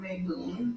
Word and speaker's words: Mabon: Okay, so Mabon is pronounced Mabon or Mabon or Maboon, Mabon. I call it Mabon, but it's just like Hecate and Hecate. It's just pronounced differently, right?